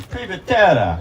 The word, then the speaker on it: Privatera: I think I gotta say her name correctly in Italian. Privatera.